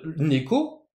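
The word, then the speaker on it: 猫: Je veux dire, neko, le nez est toujours plus haut que le ko. C'est comme ça que se fait la bonne intonation de ce mot japonais.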